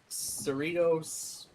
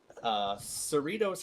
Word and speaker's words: Cerritos: Cerritos, that's how I pronounced it originally, but Cerritos High School in Cerritos, California.